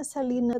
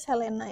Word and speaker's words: Selena: dari Selena quintanela perz kalau di Amerika Selena itu dibacanya Selina tapi karena kitait Indonesia Aku akan nyebutnya Selena ya guys Oke gimana kisah